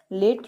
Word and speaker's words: late: उच्चारण साइलेंट है, ई का कोई यहाँ पे उच्चारण नहीं किया गया है, LATE।